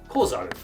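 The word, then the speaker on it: こざる: add ko, making it kozaru. The reason sa changes to za is because when compounding two words in Japanese, the first syllable of the second word has dakuten applied to it.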